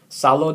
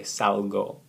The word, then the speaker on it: salgo: Salo doesn't work. Okay, pronunciation here tells us that we need to say salgo.